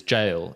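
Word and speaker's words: gaol: to come up is jail and you're saying what jail how is that aussie slang well yes when it's spelt g-a-o-l so a very different spelling there you would still say probably here i personally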